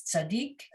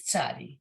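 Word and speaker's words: צדי: And Audrey, I think when I was little, I may have been taught the name is tzaddik, but it's tzadi.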